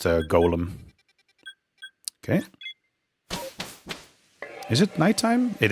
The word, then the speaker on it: Golem: Yeah, it is absolutely uh pronounced golem.